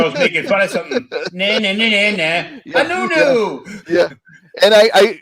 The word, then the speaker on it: Anuenue: Anuenue. Yeah. And I like right on the left of it, I pronounce it phonetically, or like nu next to the you'll see it underneath the picture over here.